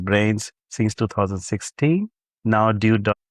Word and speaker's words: BRNZ: He has BRNZ platform pronounced as brains since 2016.